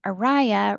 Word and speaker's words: Aria: uh if it helps you to remember my name Aria rhymes with Mariah.